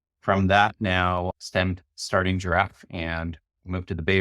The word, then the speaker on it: Jirav: and co-founder of giraffe it's a complete misspelling of the word giraffe you just kind of list the B and the F together but it's spelled j i r a we're an all in